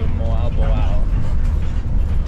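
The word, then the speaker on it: Mabolo: camera was on but it's Mo Al Bo Al you know pronounced like the vowels individually if they're next to each other yeah if they're next to each other so we're headed to moabow the gaisano mall um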